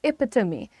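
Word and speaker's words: epitome: तो इस वजह से उनकी स्पेलिंग्स के अनुसार हम इसे प्रोनाउंस करते हैं। हम क्या बोल रहे हैं यहां पर? एपिटमी।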